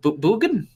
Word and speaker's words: Bugan: be a book Stanny but Bugan Bugan it's not hard to pronounce I'm sorry I'm having